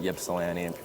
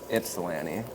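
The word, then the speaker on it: Ypsilanti: I put New Salem because if I put Yepsilani, nobody knows where Yep's at. So, how do you spell that?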